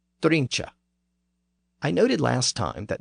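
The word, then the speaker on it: drunche: Also, note that the word appears here as drincha, D-R-U-N-C-H-E. So it has an E at the end, pronounced drincha.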